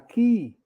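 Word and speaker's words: Keay: by Sky News reporter Lara key is spelled k-e-a-y the government is from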